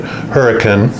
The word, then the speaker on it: Hurricane: utah called it spelled hurricane but here they pronounce it hurricane and it's like 20 minutes from zion national